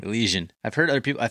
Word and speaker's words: Elysian: Yeah, it's Elysian. Elysian. I've heard other people, I thought I heard it pronounced differently when I watched a commercial or something.